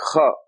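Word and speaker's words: خاء: Maybe there's some in Scottish where they say the lach, monster, the kha.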